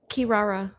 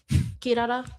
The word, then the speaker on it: Kirara: Kirara. Kirara. I can never say her name. Kirara. Yeah. You gotta roll your R.